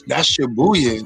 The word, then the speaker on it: Shibuya: How you pronounce the name? That's Shibuya. That's like one of the bigger. Like, yeah, Shibuya.